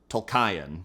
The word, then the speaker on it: Tolkien: I don't think any of us are pronouncing it right. I'm not a monster. New canon, J.R.R. Tolkien.